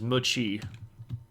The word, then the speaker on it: Muqi: This particular person is Muqi. And you got to remember that the Q is pronounced like a CH.